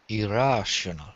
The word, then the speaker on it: irrational: rash you got it irrational rather than IR be careful not to roll your eyes irrational one more time Roberto irrational there you go okay